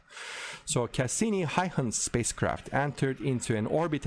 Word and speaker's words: Huygens: uh it's actually not hygiene's it's uh the the dutch pronunciation is a little bit more different it's there's some no way i can do the correct pronunciation but it's uh similar to haihans so cassini heihan spacecraft